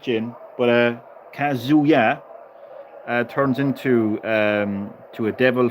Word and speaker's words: Kazuya: It's not a Kazuya. It's Kazuya. So emphasize yeah. Kazuya. Oh no, wait a second. Kazuya. Yeah. Kazu as in is you, and yeah as in yeah.